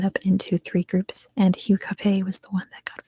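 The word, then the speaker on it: Hugh Capet: I hope next is Hugh Cafe Q h-u-g-h Cafe c-a-p-e-t Hue Cafe it's kind of like his um english-ized version it's not pronounced much different in the actual language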